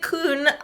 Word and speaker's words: Kuhn: I just tell people like a Q plus an N. Okay.